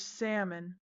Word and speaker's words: salmon: Then there's salmon. S A L M O N. Where did the L go?